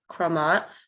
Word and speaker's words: Crémant: napa valley california the commonly used name is pronounced chromat which means creamy and french and it refers